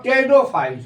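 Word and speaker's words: Pteridophytes: थलो फाइ ब्रायोफाइट्स और टेडो फाइट्स इसमें पी जो है वह साइलेंट है और इसको फिनो गेम्स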